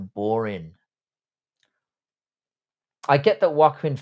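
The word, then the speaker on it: Joaquin: I get that Wakuin Phoenix, that's how you pronounce his name, is a good actor and whatnot, but they butchered that It was awful.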